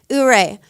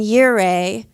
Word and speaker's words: Ouray: Ouray. So the town's pronounced Ouray, but they also pronounce this Ouray and Yure and Ire.